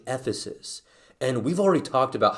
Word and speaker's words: Ephesus: pastoring at the church it rhymes with flephasis at the church in ephesus and we've already talked